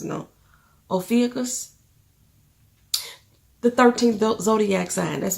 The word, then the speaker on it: Ophiuchus: Oh, I can't pronounce it, no. Ophiuchus.